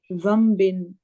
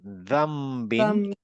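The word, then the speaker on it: ذَنبٍ: আয়াতটা যে বি আই জাম্বিন হ্যাঁ এটা মম উচ্চারণ হবে রাইট জাম্বিন এটা এটা হবে হচ্ছে জাম্মবিন জাম না দাম দাম্বিন হ্যাঁ এটা হ্যাঁ এটা হচ্ছে দাম্বিন এটা আমরা একটা রুলস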